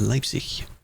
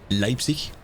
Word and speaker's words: Leipzig: Leipzig. You say it like, you don't say it Zig. Any of them ending in G, you don't say the G.